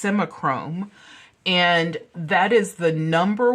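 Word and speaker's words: Simichrome: Catalan or Bakelite is you would use simich semichrome and semichrome you can actually buy almost anywhere online and it's spelled s-i-m-i-c-h-r-o-m-e that is s-i-m-i-c-h-r-o-m-e it's semichrome and that is the number one to me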